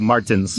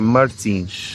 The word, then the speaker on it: Martins: bem o nome dela ou é tipo Martins? Martins, provavelmente é Martins. Yeah. Mas todos os nossos ouvintes vão saber que é Martins.